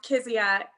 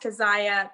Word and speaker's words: Kezia: missionary in Africa and my name is pronounced Kizia but it is a Hebrew name that should be pronounced Keziah but because of his time in Africa it's Kizia and so it means